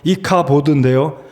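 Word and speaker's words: 이가봇: 떠나갔다이가 여러분 이가드 말은 히브리 발음으로 이카보드 카보드 또는 카도쉬 카도라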